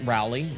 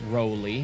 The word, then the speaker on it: Rowley: Not Rowley. Roelly is how he pronounces it.